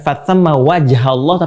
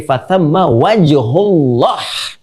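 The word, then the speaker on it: فثم وجه الله: Lihat cara bacanya. Perhatikan betul cara baca. Lihat harakatnya. Bukan fatamma wajhallah, tapi fatamma wajhullah.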